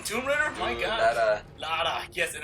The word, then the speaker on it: Lara: Lara. Yes, and it's not Laura. It's Lara.